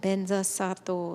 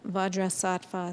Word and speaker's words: Vajrasattva: Om Benza Sato Samaya. Actually, we'll say it in Sanskrit rather than in the Tibetan pronunciation. Om Vajrasattva Samaya Anupalaya Vajrasattva Tenopa